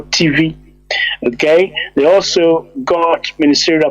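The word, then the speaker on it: Tiv: Also, TV is spelled T-I-V, but they call TV.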